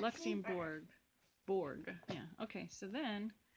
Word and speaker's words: Luxembourg: The end of it rhymes with morgue. Oh. Give me a hint on the first letter. L. The next two letters. U. Luxembourg.